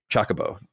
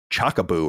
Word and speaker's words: Chocobo: say in the game they're all like Chocobo oh my God I don't like chocolate when I was a kid I used to call it the I think Chaka Boo or something like that I wasn't definitely not saying it right yeah that sounds like